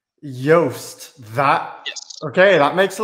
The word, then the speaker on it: Joost: a very good question you start off with yogurt and you end with toast so it's yoast yost that okay that makes